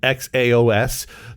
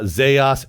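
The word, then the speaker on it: Xaos: one can agree how it's pronounced um x a oos I actually wrote down uh zos Jos cross AOS if I wanted to be cheeky about it Chow um but obviously it's kind of like meant to be like chaos because it's derived derived from limbo but yeah like that's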